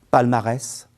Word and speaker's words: palmarès: mots invariables après auprès attention certains mots font exception et se prononcent S c'est le cas de faciès cacatoès palmarès herpès une autre fonction très